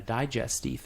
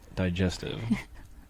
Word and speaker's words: digestif: Digestive. Digestif, that's how they say it. Digestive. Digestif. It's how you say it.